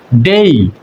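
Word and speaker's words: day: এল ই আমরা এটাকে বলি এবল কিন্তু এটা উচ্চারণ হবে এই বল ডি এ ওয়াই আমরা এটাকে বলি ডে কিন্তু এটা আসলে উচ্চারণ হচ্ছে ডেই এস এ ওয়াই আমরা এটাকে সে বলি কিন্তু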